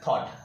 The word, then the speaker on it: thought: यू जी एच टी इसका pronunciation होता है थॉट थॉट जो है उसका मतलब